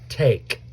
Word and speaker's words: take: twice now we've got a silent e at the end that codes the a to say its name so long A T A take say it with me